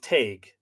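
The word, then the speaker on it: Teigue: always referred to she was the daughter of tag t-e-i-g-u-e which i gather is probably an earlier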